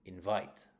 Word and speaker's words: invite: Whereas the verb is invite, right? So invite is the verb. The stress is on the second syllable if it is a verb.